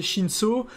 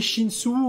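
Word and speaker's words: Shinsu: je suis au début je disais chine saut mais bon là c'est à plus l'air de se prononcer chine sous ou chine su a priori on dirait chine sous 1 il avait mis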